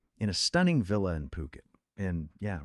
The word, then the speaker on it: Phuket: You're picturing yourself maybe in a stunning villa in Phuket. And yeah, remember it's pronounced P O K E T, not Fuket.